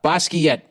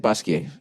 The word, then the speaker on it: Basquiat: here all right uh basquiat slash basquiat is that i said basquiat yeah i've blended with my french studies you don't pronounce the t unless there's an e after it art world um i'm